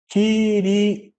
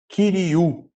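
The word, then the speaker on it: κυρίου: Kyrioi, ficaria, tá? Mas a pronúncia correta é Kyriou, tá?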